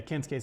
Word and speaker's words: Kensuke: Yeah, Kensuke Sasaki. Cause in Japanese, that was it a U and a K. If it's like S-U-K, Yeah. you don't pronounce the U or some shit.